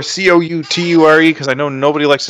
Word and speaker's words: Couture: I'm underscore Couture cou ture because I know nobody likes to spell it although Randy Couture thank God has made my last name more famous so people usually know how to say it so that's I'm usually